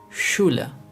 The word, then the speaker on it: Schule: The next letter combination is sh, which is pronounced like the English letter combination of sh. In English, we have the word sheep, and in German, we have the word Schule, which means school.